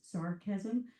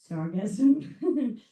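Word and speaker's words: sargassum: I'm almost pronouncing it as sarcasm, but it's sargasm.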